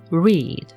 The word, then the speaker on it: read: 앞에 L 발음은 lead입니다. lead. 그다음에 R 발음은 휘파람 불듯이 입술을 모아서 우 합니다. read입니다. read. lead, read.